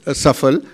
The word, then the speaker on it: सफल: एस ए एफ एल बट इ pronounce सफल in India वच इज अंडरस्टूड अक्रॉस